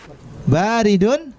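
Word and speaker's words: بارد: baru ada yang lama baridun ingin dingin ya ingat cara bacanya kita lihat Mumpung ada harokatnya bye didn't bukan beri Selanjutnya maksurun rusak-rusak ya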